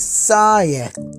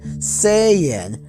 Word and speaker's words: Saiyan: original japanese name and pronouncing as saya and some of the more commonly you use english pronunciation saiyan that was there right